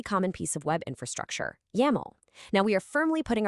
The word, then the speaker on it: YAML: It rhymes perfectly with camel, and you always pronounce it as a single word, never spelling out the individual letters.